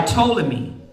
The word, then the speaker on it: Ptolemy: Egypt egy I'm just messaging was ruled by Ptolemy the p is silent p t o l e m y it was ruled by Ptolemy and then uh